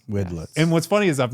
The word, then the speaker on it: Widlitze: And then we have a special guest, Weedlets. Oh, no. We wedlets. Goodlets. Okay. The worst. John's going to kill me for that. The worst I've ever gotten is wildlife.